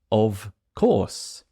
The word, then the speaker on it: of course: an O it's not of of course it's an of of